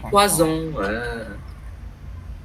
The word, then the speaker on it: poison: Poisson et poison. Poisson, cá. Alors, poison, thuốc độc. Chúng ta phát âm nhầm rồi sao rất là tai hại ha.